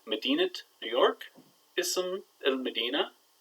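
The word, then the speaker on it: مدينة: So we say Medinat, New York. You hear that nice T there, Medinat, New York. But Ism el Medina, we don't say the T. Medinat, New York, Ism el Medina.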